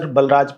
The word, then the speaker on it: Balraj: One of the selected scholars in Hindi language is Professor Balraj Pandey. Actually, the pronunciation of his name is Baliraj Pandey, but I don't know